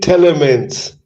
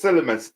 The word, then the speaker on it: Tielemans: Yuri Telemans. Okay, Yuri Telemans. Are you happy? Yes. Okay. Telemans. Okay, yeah, it's Tielemans. Tielemans, because it's Tiele.